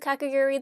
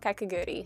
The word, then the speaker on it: Kakegurui: Ignore how nasally I sound, I'm sick, but I just wanted to note that I will be mispronouncing the name of Kakegurui. I, for some reason, just don't add in the U.